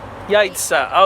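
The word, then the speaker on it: яйцо: Yaitso? Yaitso? Yaitz? I What? don't know. Yaitsa.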